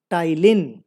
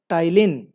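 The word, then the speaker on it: ptyalin: तो salivary amylase को हम लोग क्या बोलते हैं टाइलिन, राइट, पी इसमें साइलेंट है, इसको बोलते हैं टाइलिन, राइट।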